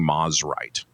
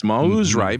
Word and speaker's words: Mosrite: You know what is funny I still I still occasionally find myself saying Mosrite. Mhm. Which is not. It's Mosrite because the man's name was Mosley.